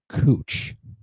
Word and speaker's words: Couch: friend pointed out that there's a street called couch but it's pronounced cooch that's Americans disappoint me